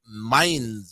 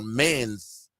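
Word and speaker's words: Mainz: I will start with the Dortmund taking on mines or Mains um talk to us about that over there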